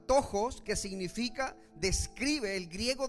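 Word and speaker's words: πτωχός: Dice que la palabra griega de pobre se pronuncia tojos, que significa describe el griego describe una describe una persona absolutamente necesitada.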